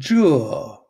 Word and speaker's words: 这: It's pronounced zhe. Or? Yeah, basically zhe shi. Zhe shi. Zhe shi. Zhe. It's kind of a hard pronunciation. Zhe. Zhe. Right? Or J, if it's with a measure word, if it's got something noun after it, we're going to change that pronunciation to J.